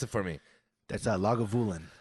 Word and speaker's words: Lagavulin: 16 year aged uh james can would you pronounce it for me that's a log of woolen lagavulin i'm excited to try this one tonight yeah